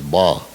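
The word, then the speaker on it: 八: month in mandarin chinese the pronunciation of number eight is ba this pronunciation is very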